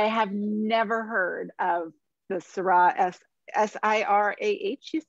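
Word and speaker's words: Sira: So they're both pronounced Syrah, and they're two different products.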